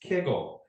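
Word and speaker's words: kugel: in Southern and Central Poland and Ukraine it's pronounced kiggle so the name right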